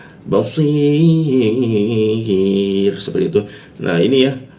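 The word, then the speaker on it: بصير: Nah, ini ya-nya dimatikan, ro-nya dimatikan seolah membentuk bendera ya. Maka di si-nya itu ada bendera, kita panjangkan 3 ketukan cara membacanya. Basir, seperti itu.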